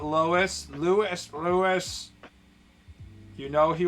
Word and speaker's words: Lois: Lewis and not Lois. Lewis. Lewis. You know, he will never stop pronouncing it.